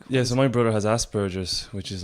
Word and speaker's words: Asperger's: But like I've met your brother, you know, and if like I didn't know, you know, he was is it Asperger's?